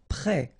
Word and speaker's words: prêt: Prêt. Final T not pronounced. Accent circonflexe like that phonetically gives you the E sound.